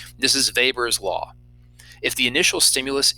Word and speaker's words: Weber: call weber's law yes another w pronounced with a v this is weber's law if the initial